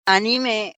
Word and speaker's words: anime: hay quien también le dice anime porque también había la animación en francés, que la animación en francés justamente se dice anime con el acento tónico en la última sílaba que termina en la E, y entonces pues de